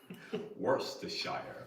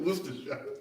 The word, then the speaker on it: Worcestershire: Susa, Jonathan, get Greg to pronounce Worcestershire. Worcestershire. Very Worcestershire. Worcestershire.